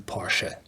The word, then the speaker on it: Porsche: I should tell you Porsche. The E is pronounced in the back.